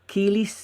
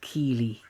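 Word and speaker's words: Kiele: So how you spell her name is Kiela, then Sanchez. So I think it's pronounced Keely. Keely Sanchez.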